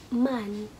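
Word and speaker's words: 们: So yung man, para siyang English na men. Man. So, napopronounce kasi yung letter E dito ng A.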